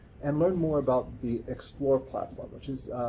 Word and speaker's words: XPLOR: have on campus, and learned more about the Explore platform, which is spelled XPLOR.